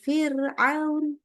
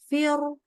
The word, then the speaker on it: Firaun: Firaun ya Firaun ya bacanya Firaun bukan fir nah ini enggak boleh jadi hati-hati ini harus dibaca tipis contoh lagi adalah huruf